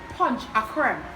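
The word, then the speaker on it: ponche crema: and tobago punch the crown or as they pronounce it here punch a creme it's a drink made up of eggs evaporated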